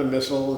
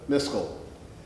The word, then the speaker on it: Miskel: Okay, for the next person will be Miskel. Did I say it right? Yes. Okay, not a missile, not a Mitchell, but a Miskel.